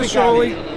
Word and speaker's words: shoALIE: Yeah, it's a shoALIE.